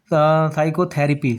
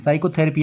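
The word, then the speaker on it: psychotherapy: क्या दिया यहां पे साइकोथेरेपी साइकोथेरेपी यानी कि पी हम नहीं यहां पे ले रहे हैं साइकोथेरेपी यहां से स्टार्ट कर रहे हैं ठीक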